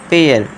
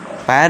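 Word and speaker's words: pair: फिर है पेयर। पेयर यानी कि जोड़ा। पैर नहीं इसे पैर नहीं पढ़ेंगे। आप क्या पढ़ेंगे? ए आई के बाद आर आ रहा है तो क्या कर देना है?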